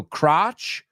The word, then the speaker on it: crotch: crotch ah crotch it rhymes with Notch a notch you have